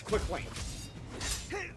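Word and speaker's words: Queklain: its name, it is still intended to be pronounced the same way. It's quick lane.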